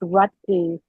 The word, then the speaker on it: Roethke: It's pronounced ruty. Theodore rut. Oh, that's how you pronounce his name. Ryky.